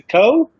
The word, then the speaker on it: Coe: pronounce it it's like it's a co po yeah like david allen crow perfect cool that's that's